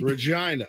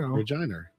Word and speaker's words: Regina: Regina, I can't, I'm gonna get in trouble.